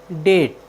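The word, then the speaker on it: debt: डी ई बी टी डेट डेट मीस होता है कर्ज साथियों यहां पर बी टी के पहले आया है इसलिए हमने बी का उच्चारण नहीं किया है हमारा नेक्स्ट वर्ड मीनिंग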